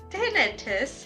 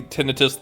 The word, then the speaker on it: tinnitus: There are 3 syllables in that word.